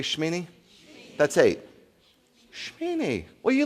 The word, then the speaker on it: Shemini: Can you say Shmeini? That's eight. Shmeini. Well, you looking at me like I don't know. You didn't know. Shmeini. You don't pronounce the shimini. It's not. That's silent. The e is silent.